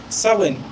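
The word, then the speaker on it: Samhain: আফার সাম হেন দেখ এই যে উচ্চারণটা না সা উইনও এরকম উচ্চারণ হয়। ঠিক আছে? এটার পারফেক্ট উচ্চারণ হচ্ছে সাওন।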